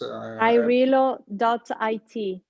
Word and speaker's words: AIRelo: I think it's AIRelo.it. That's it. Yeah, sorry. Okay, Madalena, So say one more time. AIR. So, and then ELO, AIRelo, as you prefer to pronounce it.